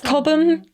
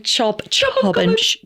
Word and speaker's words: Chobham: So that's cobbum. Cobb common. Oh my gosh, I knew I'd say it wrong. What did I say at the beginning? Chob chamom.